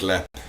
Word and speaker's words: Leap: It's spelt Leap, but Leap in the Irish way of thinking of Looks things. like Leap, sounds like Lep.